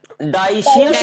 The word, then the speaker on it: dioecious: डाइशियस organism कह सकते हैं, DIO DIOCIOUS, एक सेकंड स्पेलिंग देख कर लिखते हैं।